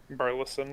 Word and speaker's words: Birleson: Today we have a special guest, Burleson. Am I pronouncing that correctly? Birleson, yes.